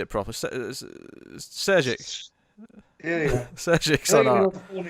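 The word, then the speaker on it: Šejić: Sejic.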